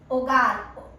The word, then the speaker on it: hogar: Hogar. Hogar means house, home. Hogar, remember H is silent.